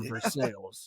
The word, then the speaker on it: Versailles: uh we pronounce the We have some hard L's in ours. So, we are Versailles. Phonetically challenged. There we go. I remember uh I used to live out near Versailles, man.